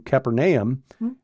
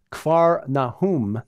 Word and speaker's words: Capernaum: arrest of John the Baptist from Nazareth to Capernaum which is how most of us pronounce it but we were told yes it's actually car Nahum yes one of our tour guides Messianic gaju